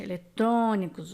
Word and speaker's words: eletrônicos: temos aqui em eletrônicos vamos começar por eletrônicos a última sílaba penúltima sílaba e anti penúltima sílaba forte eletrônicos o som forte vem aqui e sim está acentuada